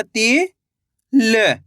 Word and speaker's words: तिल: Last वाले अक्षर का उच्चारण आधा कर देना है।